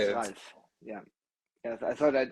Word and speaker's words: Ralf: How do Yeah, you my pronounce name is it? Ralf.